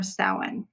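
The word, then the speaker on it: Samhain: few weeks we're leading up to Halloween or sa now sa is looks like it would be is spelled Sam hanne like s m h a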